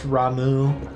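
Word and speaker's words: Ramuh: just clear this up it's pronounced ramu probably i mean i don't think it should be but i understand that it is like um the reason i i i've always called it rama is because i thought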